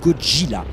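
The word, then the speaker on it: ゴジラ: enfin pour être complet sachez que cotinat se prononce en japonais koji là le nom viendrait d'un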